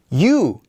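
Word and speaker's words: ㅠ: In fact, this one is pronounced as you. You.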